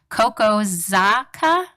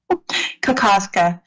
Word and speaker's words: Kokoska: Kokozaka? Kokoska. Kokoska, thank you.